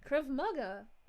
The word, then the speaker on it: Krav Maga: This is how you pronounce Krav Maga. It's Krav Maga. Krav Maga.